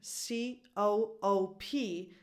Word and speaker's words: co-op: it you just keep C O O P but you have to know, you have to remember that is CO-OP.